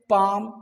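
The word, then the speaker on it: palm: ए एल एम काम पी ए एल एम पाम सी ए एल F calf H ए एल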